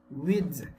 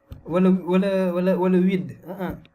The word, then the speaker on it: width: Et ça, cet attribut, on l'appelle width. Width, c'est un mot en anglais. Que personne me dit width, voilà width.